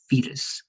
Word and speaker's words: fetus: so fatal is continuing more like e at the beginning fetus fetus let's repeat that one